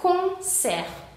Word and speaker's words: concert: Quedamos que on se pronuncia un, es un sonido nasal. y aquí tenemos una T final que no se pronuncia, entonces sería concert, concert.